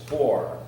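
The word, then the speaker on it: Khor: By the way, the K is silent. It's Hor Ukrainian vodka.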